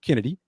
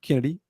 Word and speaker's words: Chennedy: We're going to share our thoughts on the Chennedy Carter, and it is pronounced Chennedy, even though it's CH. It is Chennedy, the K sound.